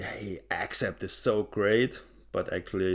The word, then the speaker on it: Accept: the native speakers call them accept the Germans say accept of course except it is correct the pronunciation is not on the a the German metal freaks they say hey accept is so great but